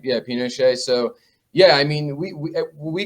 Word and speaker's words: Pinochet: Pinochet. Yeah, Pinochet.